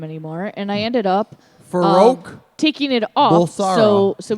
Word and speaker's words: Farrokh: Farouk Bulsara. Wow. Yeah. Pronouncing it it's- correctly? it's Farro. Yeah. Farrokh.